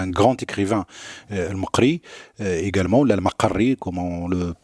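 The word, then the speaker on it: al-Maqqari: Et donc, sa famille, Al-Maqri, on a un grand écrivain, Al-Maqri, également, Al-Maqarri, comme on le prononce, de Tlemcen, et qui nous a laissé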